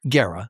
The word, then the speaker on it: Guerra: How do you say it? Guerra. Guerra. Yeah. Okay. But everybody says Guerra, so Okay. I'm used to it.